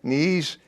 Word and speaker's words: Knies: This is Alex Knies. Knies with a K. The K is not silent.